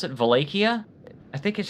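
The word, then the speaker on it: Wallachia: Your first pronunciation is the correct English way. Okay, thank you, Wakia, but I guess the correct Romanian way is Valleia.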